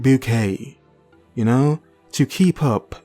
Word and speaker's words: Bucket: is keeping up appearances their surname is bucket spelt bucket but she pronounces it bouquet you know to keep